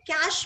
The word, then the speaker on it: cache: So, internal memory can be either registers or a cache memory. This CACHE is pronounced as cache. Okay, see, like CASH.